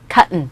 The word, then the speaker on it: cotton: 일단 cotton이라고 발음이 됩니까? 네, 원어민들은 cotton이라고 하는 것보다는 트 사운드 참 싫어합니다. 게을러요. 발음 안 해요. cotton. 따라해보세요. cotton. 어떤 거와 비슷하냐면 button, 단추, button, cotton 이렇게 발음하죠.